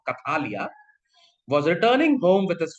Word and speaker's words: Kathalia: Kathalia is basically you have to sound little bit of Bengali pronunciation is going to come. Kathalia was returning home with his family by boat.